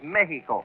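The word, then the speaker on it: México: Oh, no, not Mexico, Eddie. The Spanish pronunciation is Mexico. Yeah? You make the X sound like an H, you see? Mexico.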